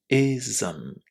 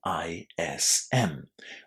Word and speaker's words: ism: Ism. Ism. This is a universal rule for the pronunciation of any English word that finishes in ISM. We pronounce all of these endings as those 2 syllables.